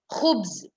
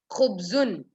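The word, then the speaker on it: خبز: Khubz, khubzun, khubzun, kha. Kha again, it's a tafqeem.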